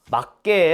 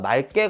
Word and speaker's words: 맑게: 발음되어 흑 막다 그렇죠 그런데 맑게 한번 발음해 보세요 막개 말게요 직접 해보면 맑개 더 자연스럽죠 물고는 묶고 물고 이것도